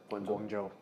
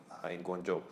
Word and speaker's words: Guangzhou: and actually live in Guangzhou and Am I pronouncing right? Guangzhou? Guangzhou.